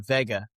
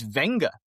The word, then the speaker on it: Vega: It's Venga. So even the pronunci even the shortened thing is misleading because you read it and it's v e g a but it's venga.